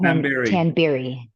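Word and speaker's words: Tamberi: Pronounce the young man's name, because I don't mess with it. Tanberry.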